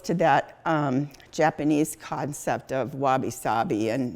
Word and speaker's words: wabi-sabi: Could you spell that Japanese concept for me? You said wasabi? Wabi-sabi, it's W-A-B-I-S-A-B-I.